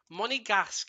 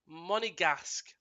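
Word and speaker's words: Monégasque: Monegasque is how it's pronounced. Monegasque.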